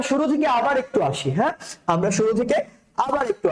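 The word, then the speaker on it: ح: same same এক colour হা টা কিভাবে উচ্চারণ করতে হবে হা টা কণ্ঠনালী থেকে উচ্চারণ করতে হবে কণ্ঠনালীর কোন জায়গা থেকে কণ্ঠনালীর মধ্যে ওখান থেকে আর খ টা উচ্চারণ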